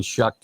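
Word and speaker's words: Shough: And in Shuck and uh this how we say his name. I haven't said it in a while. That's right. Shuck.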